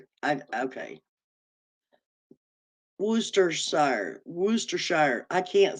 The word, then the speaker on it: Worcestershire: Oh, the R is silent. Worcestershire. Okay. Worcestershire.